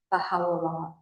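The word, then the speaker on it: Bahá'u'lláh: get but pronunciation first translated from Arabic baja means glory u means of And la is a contraction of Allah, God. Glory to God. When you run it all together, bahalah.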